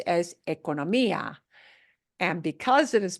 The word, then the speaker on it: economía: Una economía. So because the accent is there with the I, otherwise it would have been economia.